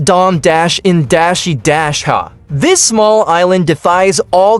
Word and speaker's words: Dominica: And pronounced Dom-in-ha.